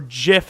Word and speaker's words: GIF: next card of course is a gif or jif as it's technically supposed to be pronounced but i will never